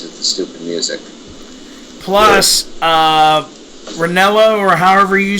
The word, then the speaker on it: Ranallo: Plus, Ranello, or however you say his name on SmackDown. Yeah. Mauro Ranallo.